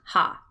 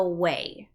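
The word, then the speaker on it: は: the particle ha and we don't pronounce it that way when it is a particle it's not ha this one same thing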